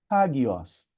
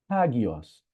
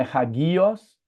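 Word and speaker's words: ἅγιος: Veja, o acento agudo tá aqui, então a sílaba tônica tá aqui. Não é ragios, não é ragió, é ragios. E veja que ela tem o espírito aqui, não é? Então é hagios.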